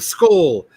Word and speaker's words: CSOL: So if you're interested in we need to find a way to pronounce the acronym CSOL, the soul, the soul. The skull.